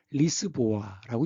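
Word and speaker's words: Lisboa: 사실은 프로토콜 발음으로는 리스보아라고 있습니다.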